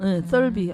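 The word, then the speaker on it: Thirlby: 썰비. 아까 말한 걔가 그 투명 인간으로 나와. 번데기 발음 썰비.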